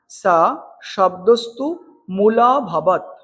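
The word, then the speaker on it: স শব্দস্তুমুলোঽভবৎ: উচ্চারণটা কেমন হবে আমি আবার বলছি। স শব্দস্তু মূলভবত।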